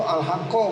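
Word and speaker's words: الحقَّ: Itu al haqqo bacanya.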